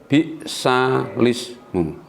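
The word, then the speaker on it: بئس الاسم: Bi'sal ismu, membacanya adalah bi'salis, bukan bi'sal ismu.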